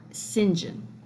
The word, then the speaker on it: St. John: Rivers, Diana, Mary, and St. John or Singinjen as the Brits say.